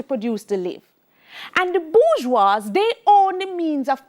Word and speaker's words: bourgeoisie: It's French, so it is spelled bourgeoisie, but it's pronounced bourgeois.